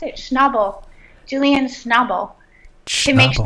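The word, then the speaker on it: Schnabel: Like, how do you pronounce it? Schnobble.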